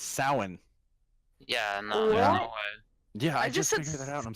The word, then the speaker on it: Samhain: guys pronounce that say it again it's spelled s am H AI n spell it wait wait Sh si ma che I n I just typed it salmon everyone pronounces it Samhain but it's soin yeah yeah I just I'm so pissed may